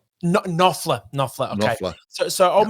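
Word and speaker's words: Knopfler: Um, written because old mate, now I can't pronounce his last name. Mark, is it um, Copler? Nofler.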